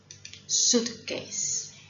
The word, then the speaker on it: suitcase: Check that the I is silent. Suitcase.